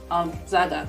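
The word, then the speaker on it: SAGA: So Zaga, in case you're in Hamburg, is spelled S-A-G-A, Zaga, the way it's pronounced.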